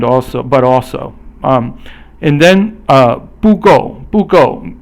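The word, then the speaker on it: 不够: And then 不够 is both fourth tone. Fourth tone is falling.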